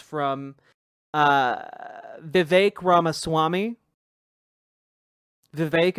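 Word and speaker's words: Vivek: uh Vive Rama Swami, Vive, it rhymes with cake and Peter Teal.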